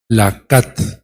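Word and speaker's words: לקט: Lakat, sí, así, lakat, con acento en la lakat.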